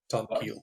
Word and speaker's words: Tomkiil: So the I is pronounced E. Mm-hmm. Tom Keel.